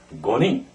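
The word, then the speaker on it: 五人: 한 사람, 히토리, 두 사람은 후다리, 세 사람은 산닝, 네 사람은 요닝, 5명, 고닝.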